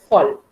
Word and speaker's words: voll: Voll, because V in German is pronounced as voll. Volkswagen, voll. No?